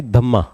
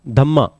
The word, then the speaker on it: धम्म: Major rock edict 14th informs about significance of धम्मा। धम्मा मैं कराऊंगा अभी। इन्फॉर्म्स अबाउट सिग्निफिकेंस ऑफ धम्मा। धम्मा की स्पेलिंग देख लेना। प्राकृत में धम्मा बोलते हैं, संस्कृत में धर्मा बोलते हैं।